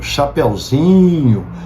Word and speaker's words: chapeuzinho: Por exemplo, em palavras diminutivas, como cafezinho, chapeuzinho, veja, nessas palavras diminutivas, a sílaba tônica sempre vai para o in, de zin, né? Chapeuzinho, cafezinho. A sílaba tônica é lá no i, de zin.